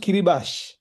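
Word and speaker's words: Kiribati: I think Kiribate is pronounced kitty bash.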